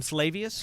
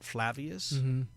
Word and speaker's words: Flavius: years later what is the correct pronunciation of your character's name in The Hunger gam flavius but people have said flavus you know it's uh